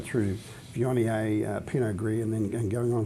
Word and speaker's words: Viognier: People are learning how to pronounce Viognier.